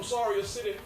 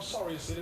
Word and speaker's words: Soria City: I learned over the years being in the project and coming from Soria City, the correct pronunciation for where I was born, Soria City. It's not Surrey. It's a R-I-A city.